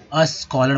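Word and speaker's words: scholar: देखिए एस के बाद जो है कोई भी ए ई आई ओ यू नहीं लगा हुआ है, इसीलिए इसके अस्कॉलर बोलते हैं, आधा सब वो पढ़ेंगे इसे, इस एस को आधा सब पढ़ेंगे तो अस्कॉलर हो जाएगा यानी विद्वान।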